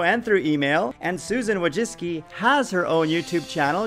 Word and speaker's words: Wojcicki: communication with you Susan wajis and just so you know that is how you pronounce her name you can hear it from her my name's Susan wajis she said in January